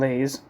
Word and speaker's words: Leys: will I um so his name is pronounced I thought it would be Simon Le but it's Simon LS like it's actually sounds way more uh English like the